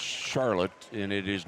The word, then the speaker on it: Charlotte: daughter and her daughter his daughter her name is spelled c-h-a-r-l-o-t-t-e and you would assume that it's pronounced Charlotte and it is not it is pronounced Charlotte